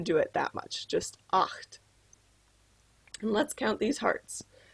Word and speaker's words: acht: right eight is pronounced oct oct you should kind of feel this one in your throat that's kind of hard